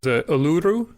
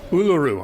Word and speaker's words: Uluru: of like Glastonberry or aluru am I saying that correct U Uluru I put the stress on the wrong syllable thank you there's that